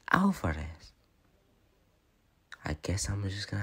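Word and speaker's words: Álvarez: Our name is pronounced like Alvarez.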